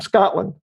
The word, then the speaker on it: Scotland: I said, "Scotland," because you have to pronounce the A as a not O. Yeah. But I'm from Scotland.